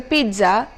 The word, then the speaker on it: pizza: I don't know how you pronounce it as, but the correct pronunciation here is a pizza and not pizza.